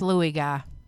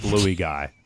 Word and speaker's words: Luigi: A It's pronounced Louis Guy. It's not pronounced blueey guy, by the way.